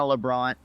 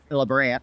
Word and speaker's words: LaBrant: even a couple years but Cole and Savannah LeBron lebrand excuse me there's their ig's I just you